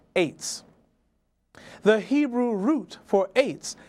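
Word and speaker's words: עץ: spelled from right to left ayin tsade sophit, pronounced ets.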